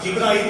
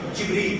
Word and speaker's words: جبریل: حضرت جبریل علیہ السلام جبرائیل کوئی لفظ نہیں غلط ہے. جبریل جو قرآن کا لفظ ہے ایک فرشتے کا نام ہے اس لیے ہر شیعہ کا تلفظ صحیح ہونا چاہیے.